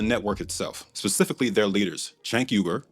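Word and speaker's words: Cenk Uygur: This one's about the network itself, specifically their leaders, Chank Yuber, that's how the founder of TYT, Chank Yuber, pronounces his name, by the way, and the self-labe politically homeless and a conspira.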